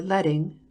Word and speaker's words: leading: page line spacing or leading rhymes with sledding refers to the amount